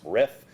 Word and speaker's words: RRIF: under a tipio related program called rrif or pronounced riff all of this is